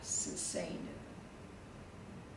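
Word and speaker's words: סוסינו: The only plural that goes to the next to the last is first common plural, which that's always the next to the last, susainu.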